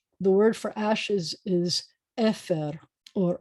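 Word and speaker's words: עפר: The word for ashes is efer or afar, efer.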